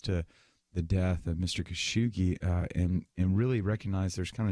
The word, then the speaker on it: Khashoggi: And I apologize, in the previous segment, I mispronounced the journalist, and it was just, I apologize for that. Jamal Khashoggi is his name.